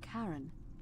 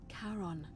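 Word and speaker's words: Charon: it's just as you described it only your pronunciation is a little off the name you heard wasn't karen it was c-h-a-r-o-n as in caron the ferryman of the dead oh karon who in exchange for the right coin helps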